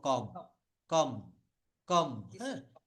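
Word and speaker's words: comb: বলি চিরুনি কম তো এই কমটাকে কিন্তু এখানে আমরা বলব সি ও এমবি তো বিটাকে বলবো না কম বলব এই বিটাকে বলা যাবে না এটাকে জাস্ট আমরা বলব কম কম কম এটাকে কিন্তু আমরা সাইলেন্ট রাখবো কম বিটা বলবো না যেমন সুনামি সুনামি লিখতে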